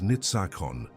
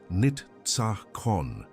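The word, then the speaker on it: ניצחון: The name is Nitzachon. Pronounced nit-tsa-chon.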